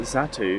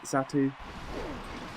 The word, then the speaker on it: Xatu: Xatu? I can imagine that's how you pronounce it. Not Xatu. The X is silent. Oh no, actually it sounds like a Z rather than an X.